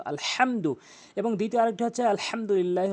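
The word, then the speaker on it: الحمد: ওখানে সূরা ফাতিহার ওখানে আলহামদু বলেন যার কারণে নামাজ ভেঙ্গে যায় ওখানে বলতে হবে হলকের মাঝখান থেকে আলহামদু এবং দ্বিতীয় আরেকটি হচ্ছে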